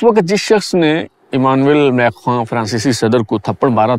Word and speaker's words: Macron: کہ down with میکرونزم۔ ویسے یہ جو ان کا نام ہے انگریزی میں لکھنے میں میکرون ہے، لیکن میرے خیال میں جو اس کا تلفظ ہے فرانسیسی زبان میں وہ میکخواں ہے۔ اگر ایسا نہیں ہے